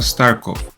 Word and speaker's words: Starkova: Let's start with Alina Starkova. In Russia, there is a difference between masculine and feminine last names, so the correct way to say her last name would be Starkova.